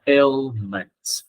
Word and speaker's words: ailment: Từ này phát âm là ailments, ill. Thực ra mọi người đọc là A, xong rồi thêm chữ L của L, ailment, thêm S được.